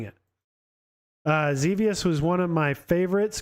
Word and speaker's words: Xevious: Adrian saying pronounced Zuvius, technically, LOL. So I actually looked up the pronunciation on this because it is like one of those words, Xevious. You wouldn't really know how to say it. Most people wouldn't. So I looked it up, and it did say Xevious. I've heard of other people say it as well.